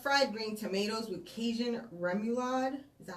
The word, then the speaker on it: remoulade: But she's having Judy's Shrimps and Grits, steak quesadilla, fried green tomatoes with Cajun remoulade.